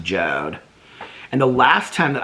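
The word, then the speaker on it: Jord: here they're still up it's j-o-r-d but it's pronounced jode and the last time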